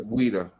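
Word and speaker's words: Ouidah: Weda.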